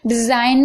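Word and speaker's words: design: silent है ठीक है डिजाइन में भी आप देख रहे हैं जी साइलेंट है ओके एन से पहले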